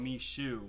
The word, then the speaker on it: Michoud: too and i'm like that no how about me shoe me shoe is way better yeah literally that's how it's pronounced apparently yeah because that's spelling the south